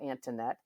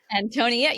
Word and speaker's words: Antonette: skimming it real fast, I might call you Antinette. But it's not that.